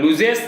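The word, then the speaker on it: lose: লুজ মানে হারাই তাহলে লুজেস মানে আচ্ছা এটা মানেও হার আমরা অনেকে এল ও এস সি মানে লস বলে থাকি শরীর উচ্চারণ লুজ যেহেতু কর্তা থার্ড পার্সন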